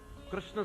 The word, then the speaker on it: कृष्ण: पंजाब में तो प्राय लोग किशन किशन कहते हैं, किशन महाराज, कृष्ण कह ही नहीं पाते।